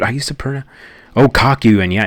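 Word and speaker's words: Kakyoin: Am I pronouncing that right? Dude, I used to pron Oh, Kakuan. Yeah, it's Kyuan.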